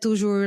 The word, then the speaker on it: Tou Ger: So she just kept like Tou Ger like on a string, like strung him along for a while just for the perks.